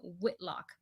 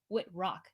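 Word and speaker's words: Wittrock: say that too quickly finn whitlock no i said it wrong finn wit rock there said it correctly so super excited for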